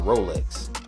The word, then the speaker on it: Rolex: a popular dish called a Rolex pronounced just like the watch basically to make a